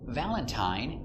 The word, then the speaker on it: Valentine: Valentine uses the long I, the same as mine.